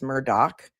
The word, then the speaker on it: Murdaugh: It's also Murdoch. A lot of people say Murdo, but it's Murdoch.